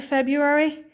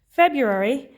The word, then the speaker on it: February: 1st of february and that's quite a tricky spelling february because we don't really pronounce that r very well february 2021 so every morning